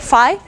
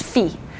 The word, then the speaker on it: phi: sorority or fraternity names you call it Phi but mathematicians have adopted the British pronunciation which is feet so we'll call it feet we just one more